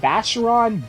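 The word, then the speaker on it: Vashyron: Just go on YouTube and type in Vacheron Dance, Resonance of Fate. Vacheron is spelled Vashhyron.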